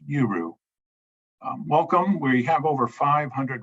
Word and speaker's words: UERU: We dropped that A and we just pronounced the letters UERU.